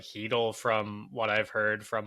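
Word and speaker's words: Chytil: said that right right sheel heel heel heel that's right you don't pronounce the C Marcus patteron Drew o'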